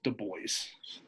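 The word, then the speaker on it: Dubois: hot um even losing the boys no it's spelled d-u-b-o-i-s so it's the boys the boys saturdays are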